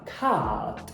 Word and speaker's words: cat: Os americanos fazem um ash mais aberto, mais voltado para o E. Cat. Os britânicos fazem esse ash mais parecido com o A. Cat.